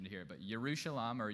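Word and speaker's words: ירושלים: But, yushalam or yushalam. There's two parts. There's the year part city. And then there's shalom or shalam which sounds like shalom, peace.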